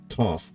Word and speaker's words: Toph: So it's should in Chinese, in Mandarin, it should actually be Duofu Beifong, not Toph Beifong.